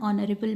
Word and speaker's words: honorable: Like an eye, an honest person, an honorable man. Even if it starts from H, it is pronounced as O.